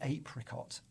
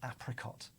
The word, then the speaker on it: apricot: Why do we say apricot, not apricot? Good point. Because when we look at the words it came from, they all look like they would have been pronounced ab or ap. And somewhere on the line, we've kind of made that into an A sound.